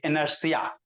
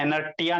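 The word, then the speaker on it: inertia: आई एन आर टी आई एनर्सिया है ना? इसका स्पेलिंग ऐसे ही होता है। एनर्िया नहीं पढ़िएगा। एनर्सिया टी आई ए होता है।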